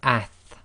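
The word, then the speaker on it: ث: And then we have ath, ath, and now this is as in the English word athletics. We've got to be a bit careful here. There are some countries where they might pronounce this as as, and it's not a sa sound, it's a th sound, so it's ath as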